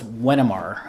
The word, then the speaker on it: Wenimar: east carolina so now i'm here well it's pronounced as wenamar uh wenimar uh actually it is uh it's it's